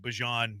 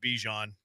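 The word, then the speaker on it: Bijan: Y Why are you saying Bejan's name like Bjon? Because Bjon Robinson told everybody that his name was Bjon and not Bejon.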